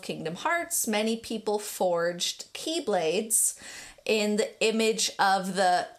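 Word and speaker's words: χ-blade: evil, was called the Keyblade with an X. It's spelt with an X. Always thought it was called an X-blade when I was playing it, because I didn't know the X was pronounced key.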